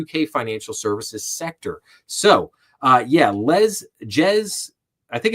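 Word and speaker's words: Jes: So, Jez, I think it's pronounced Les. I think it's spelled with a J, but I think it's like Les Staley.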